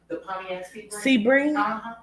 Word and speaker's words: Sebring: keep hearing Sebring yeah is that how you pronounce it Sebring it is um okay I'm gonna write that